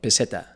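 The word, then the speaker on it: peseta: know what I mean the real word was like petta that's petta that's how you say it so then they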